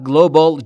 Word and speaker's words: Global: پس Global رو توجه داشته باشید تلفظ درستش Global. پس گلوبال و گلوبال نیست. Global بین G و L صدایی مشاهده نمی کنید. پس Global تلفظ درسته.